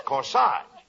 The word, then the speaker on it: corsage: them a CORI no not Cori cor that's corsage spelled AG g e is pronounced like a as in corsage or or garage now where did you get